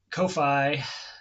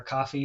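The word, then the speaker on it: Ko-fi: a fundraiser right now on Kofi or coffee what however you're supposed to pronounce that my wife always tells me it's it's coffee you to stop making it complex but to my eyes it reads is Kofi but anyway the it's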